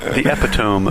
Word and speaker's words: epitome: younger that's how I read it and that pronunciation stuck in my head until someone said epitome and I was like what is that oh